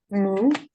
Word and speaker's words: 木: let's start writing wood how do we pronounce wood moo moo Mo moo so it's we go down with this one so for wood it's